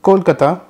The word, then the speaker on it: Kolkata: If you are wondering why Kolkata is not "Kolkat" that's because Kolkata ends with a Mahaprana.